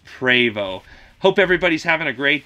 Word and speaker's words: Prevost: that in the future you don't pronounce it Prevot it's pravo hope everybody's having a